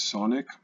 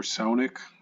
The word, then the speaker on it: Saunick: But one of our users from Discord, his name is Saunick, or Saunick, depending on how you want to pronounce it.